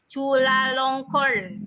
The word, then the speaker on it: Chulalongkorn: Lalu Kak Wengki itu nama kampusnya susah banget nih, Bu Rini ya, bacanya susah. Chulalongkorn University.